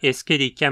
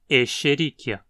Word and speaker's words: Escherichia: Como na pronúncia original a sequência SCH soa como um X, o mais adequado seria pronunciar como um X aqui também. Então, Escherichia.